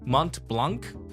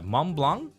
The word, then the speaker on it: Mont Blanc: BL M BL okay you don't you don't pronounce the T and the C don't pronounce the T